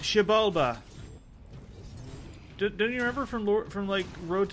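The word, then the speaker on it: Xibalba: How's that pronounced? Jabalba.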